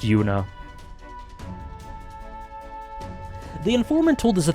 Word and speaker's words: Juna: I keep saying Yuna cuz there's a character in Trails who is spelled J U N A without the H who's pronounced Yuna.